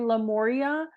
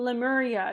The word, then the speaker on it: Lemuria: lifetimes in Atlantis and lamoria you mean lemuria it's spelled l-e not see this like these